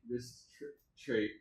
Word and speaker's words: Wristrait: Wristrait? Wristrait. It's spelled kind of funny. I'll show you a business card. I found when I spelled it Traight, people were prone to mispronouncing it.